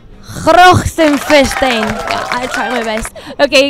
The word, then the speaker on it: Grachtenfestijn: First of all, how do you pronounce this? Grachtenfestijn. Grachtenfestijn.